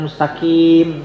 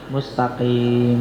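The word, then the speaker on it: مستقيم: Jangan mustaqim. Jadi kaf jangan tapi mustaqim ya.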